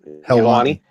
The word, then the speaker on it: Helwani: Ariel, how do you pronounce his last? Helwani.